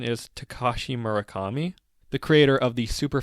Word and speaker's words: Takashi Murakami: to mention, was done by, I believe the pronunciation is Takashi Murakami, the creator of the super flat art style in Japan, who Brendan contacted on a whim.